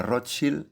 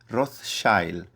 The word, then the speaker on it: Rothschild: La pronunciación original alemana Rotchill, escudo rojo, ha sido sutilmente suavizada hacia un aristocrático Rothsild.